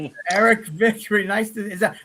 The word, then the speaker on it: Vickrey: Let's Eric Victory. Nice to Is that Am I pronouncing it right?